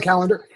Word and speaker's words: Kallander: Butch your last name calendar no you never butcher it that's how you say it you've always said it right Kayla calendar um you're like in